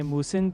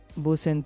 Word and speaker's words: 무슨: For 무슨, think moose in, like a moose entering a room.